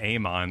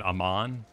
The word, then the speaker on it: Amon: uh what was it it's not aemon they said Amman yeah instead of yeah and when I see that I pronounce it aim on because I watched Cora